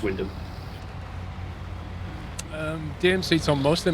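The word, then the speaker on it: Wymondham: Yeah, Wymundham, which it isn't, it's just Wyndham.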